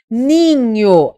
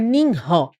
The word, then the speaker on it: ninho: É com que você não pronuncia o h, você não faz ninró, não é ninho.